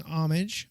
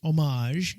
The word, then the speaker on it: homage: In our new series, we're paying homage, or homage, depending on how you say it, to the Lego Ninjago franchise while expanding the mythology with new stories on this beloved property.